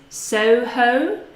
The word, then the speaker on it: Soho: Soho, so two gliding vowels.